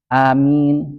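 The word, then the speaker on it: آمين: Jadi kata orang yang ahli bahasa Arab, yang benar membacanya itu dibaca dengan waqaf. Maksudnya apa? Amin, min, itu kan waqaf itu.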